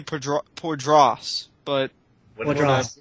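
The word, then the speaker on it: Poydras: But And- there are some things we don't pronounce correctly, like poidrus. I think it's supposed to be poidras, but what What is draws?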